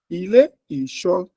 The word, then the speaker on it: ilé ìṣọ́: Tem uma sílaba média, uma alta, uma baixa, uma alta. Né? Então, eu falaria assim, ilé ìṣọ́ tí onde kéde ìjọba Jeová.